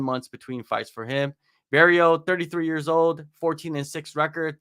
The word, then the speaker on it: Barriault: Barriault. Barriault. T is silent.